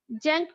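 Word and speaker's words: Tzanck: জ্যাঙ্ক preparation, এই জ্যাঙ্ক এর শুরুতে টি দেওয়া আছে, জ্যাঙ্ক এর শুরুতে টি দেওয়া আছে, জ্যাঙ্ক প্রিপারেশন।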